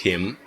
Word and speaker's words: him: about a man, and native speakers, when we speak quickly, we don't pronounce the letter H. Here, for example, I can ask him, I can ask him.